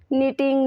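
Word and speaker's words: knitting: टिंग नीडल कहते हैं टिंग नीडल के में साइलेंट हो जाएगा टिंग में ठीक है दर्द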